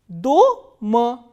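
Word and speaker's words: дома: In the first word, the vowel O is stressed. So, how will we pronounce this word? Do-ma, doma.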